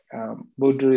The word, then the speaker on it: Boudreau: Doctor, I don't think I'll pronounce his name right. Dr. Boudreau is a research. Yeah, is that correct? Yeah. Dr. Boudreau is a research fellow at the Montreal Heart